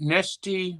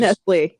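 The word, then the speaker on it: Nestlé: You've pronounced it Nestea before, but it's Nestle, yeah, it's Nestle with an L, but I don't think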